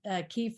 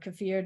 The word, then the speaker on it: kefir: people have said that sometimes it's in kefir or kefir, depending on how you say it, that's sold at the grocery store.